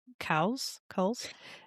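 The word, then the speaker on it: Cowles: Virginia Coles. I think it's pronounced Coles.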